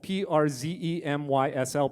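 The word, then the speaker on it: Przemyśl: Yes, Przemysl, P-R-Z-E-M-Y-S-L, pronounced Przemysl.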